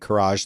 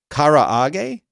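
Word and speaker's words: karaage: i don't know but i'm calling it courage like garage because i'm american but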